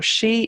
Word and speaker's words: sidhe: far as I know this this si th e is the modern version of that so she in Broga Newgrange sleeve